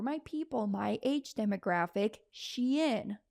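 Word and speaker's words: Shein: people my age demographic Shen that's how I pronounce it some call it Sheen all right y'all know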